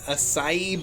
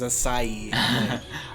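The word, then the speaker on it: açaí: the e-learning for it, they were very, very adamant that it was acai. Acai. Well, think it's one of those there's an words- accent on the letter, so yes.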